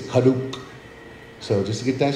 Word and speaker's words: Karuk: go ahead and correct everybody cut up is pronounced with a silent r so it's not Peru it's karuk so just to get that straight you know